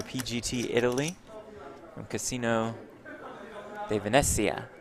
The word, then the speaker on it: Venezia: Is that good pronunciation? Italian pronunciation? Probably I think not. so. Yeah, Oh, you nailed like it, Jeff. It rolls right off the tongue Yep. for you. Venezia. That's much better.